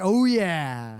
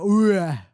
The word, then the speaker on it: OUYA: I think it's spelled the OUYA, like oh yeah. I think it's oh yeah. Except I don't know. OUYA. Oh yeah. Oh yeah.